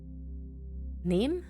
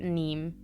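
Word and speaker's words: Niamh: you say ne or NE I think some people try try and pronounce it neem or something like that anyway it is NE yeah I thought it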